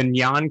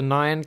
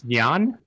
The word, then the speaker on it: Nyan: do you say that the nian cat the naan cat i believe it's nyan yeah yeah and that